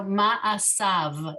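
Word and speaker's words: מעשיו: So ma'asav. The yud is silent and it ends with a V sound.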